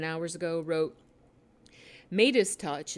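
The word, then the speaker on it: Meidas Touch: 7 hours ago, wrote, Midas Touch, it's spelled M-E-I-D-A-S, Midas Touch, Mercado Media, and Status Quo all disseminated CUI info to their followers.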